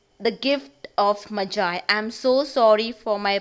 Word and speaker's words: Magi: It is the gift of Magi. Okay, and not Maggie. It's the gift of Magi.